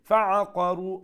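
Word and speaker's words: فَعَقَرُوهَا: Fa'aqaru fa'aqa taratari. Qaf full mouth khori. Ar-ra waw pesh ru ek alif lamba.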